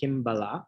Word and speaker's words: Kimbala: rooted meaning in Sanskrit it's actually kimbala is how you would pronounce it so coming from the